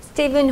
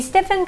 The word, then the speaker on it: Stephen: 우리가 이제 보통 이렇게 스티븐이라는 발음으로 스티븐이라고 하는데 스티븐 혹은 스테픈 이렇게 F 발음을 사이에서 읽을 수도 있죠. 선생님이 알기로는 커리 자신이 스테픈이라고 불러달라고 했기 때문에 우리는 스테픈 커리라고 읽도록 하겠습니다. 자, 이 스테픈 커리가 한국을 최초로 방문했다는 거죠.